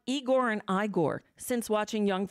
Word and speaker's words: Igor: And so Igor was Young Frankenstein, and Igor is the pronunciation of the name.